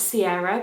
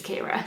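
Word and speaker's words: Ciara: Rooney wrote it and the way that it should be read is the Irish way, which is Kira.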